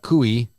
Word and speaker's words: Cui: best moments katie nicole uh cui rhymes with gooey 37 of citra was